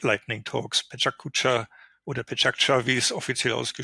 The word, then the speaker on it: Pecha Kucha: So there are innovative formats, something like Lightning Talks, Pecha Kucha or Pecha Kucha, as it is officially pronounced, World Café or open space and things like that.